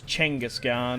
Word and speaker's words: Genghis Khan: say his name exactly because it's changose gone isn't it I'd rather say just ginga's but here are our